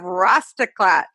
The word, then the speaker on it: Rastaclat: to have daniel cassidy founder and ceo of rastaklat nice to did i pronounce the name right you got it perfectly